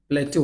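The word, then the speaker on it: plateau: सा प्लेट्यू था, प्लेटो, वैसे तो मैं प्लेस्यू बोलता हूँ इसे, लेकिन इसका प्रोनाउंसिएशन प्लेट्यू होता है, ठीक है।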